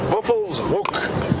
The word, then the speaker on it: Buffelshoek: pronunciation of Buff's hook da uh the correct pronunciation is Buff's hook which translated basically means Buffalo Corner Buffalo's hook